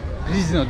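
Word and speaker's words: Pržno: Şu an Prizno diye okunuyor olması lazım. Ünlü plajlardan bir tanesi burası da.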